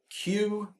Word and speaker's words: Quuu: tell you about is called cue promote is spelled q u u u q and 3